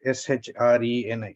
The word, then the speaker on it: Shreni: Okay, I'll spell it. SHRENI. Shreni.